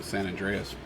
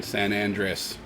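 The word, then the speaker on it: San Andrés: that I'm used to san andreas said it wrong again san andres getting that different flavor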